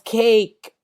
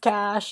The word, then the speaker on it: cache: idiot pronounces it as cake like a pastry it's pronounced cash and i was like